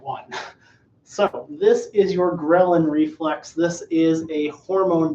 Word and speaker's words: ghrelin: tell you you're hungry ghrelin kinda rhymes with growling it and that's how